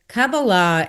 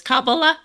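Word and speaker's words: Kabbalah: because cababala in mysticism, sorry I pronounced it wrong. It's kabala. Well, in Hebrew there's a there accent is on the last syllable just like to kabala. But of course we're in America so we say kabala.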